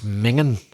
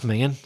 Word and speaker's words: minging: You've got to do it the Scottish way. So that's minging. Minging. Or the Irish way. That's minging.